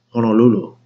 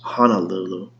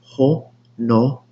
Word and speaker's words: Honolulu: So, like, I didn't like was people mispronouncing like city names like Honolulu. They would actually say Honolulu. Like, there's no way. It's Ho-no-lu-lu. Honolulu. How you get ha out of ho?